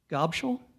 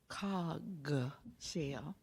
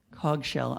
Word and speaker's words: Cogshell: Gobschel? My name is Cogshell. Cogshell, I apologize.